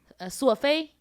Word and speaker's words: 索菲: 索菲 That's how you say my name.